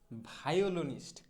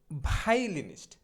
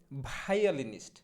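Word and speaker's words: violinist: হচ্ছে ভায়োলিনিস্ট বা ভায়োলিনিস্ট, কিন্তু সঠিক উচ্চারণটা মোটেও ভায়োলিনিস্ট হবে না, সঠিক উচ্চারণটা হবে হচ্ছে ভাই ই লি নিস্ট, অর্থাৎ ভাইলিনিস্ট, ভাইলিনিস্ট, ভায়োলিনিস্ট না, ভাইলিনিস্ট। অনেক সময় এটাকে আবার অনেকে এরকমভাবে বলে ভাইয়ালিনিস্ট, ভাইয়ালিনিস্ট। তো যেটা যেরকমভাবে বলে দুটোই সত্য, আপনি চাইলে ভাইলিনিস্ট বলতে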